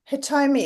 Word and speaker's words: Hitomi: Yes, it's Yes. properly in Japanese is Hitomi, but Hitomi. people very find hard to pronounce, so Hitomi is fine.